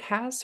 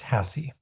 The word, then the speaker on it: Hasse: Is it Hass or Hessa or It's Hassie. Hassie?